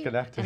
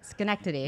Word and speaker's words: Schenectady: Schenectady. And I said it, Schenectady. Well, and I can spell it too.